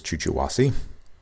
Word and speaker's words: Chuchuhuasi: and fuller harder erections now this is chuh chuh haci park sometimes pronounced as chucha wasi straight from the rainforest